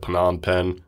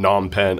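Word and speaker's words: Phnom Penh: so I mean I some people say like people who like when I liveed there like like people said panan pen so I just followed suit I mean non pen a lot of people say non pen too just people I know said P yeah I've always heard it just says n pen I've never heard the P said and I was curious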